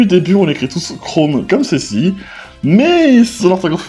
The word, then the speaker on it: Chrome: de la saison mais normalement on devrait dire chromeu ou alors regarde le